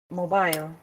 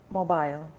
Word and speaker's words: mobile: Mobile. Very good. This is British IPA, British pronunciations. Remember, mobile. This mobile. Mobile. Okay. This is the British pronunciation, whereas mobile is the American pronunciation.